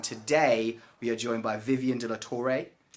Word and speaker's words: De La Torre: title officers, and today we are joined by Vivian De La Torre. Pronounced that right?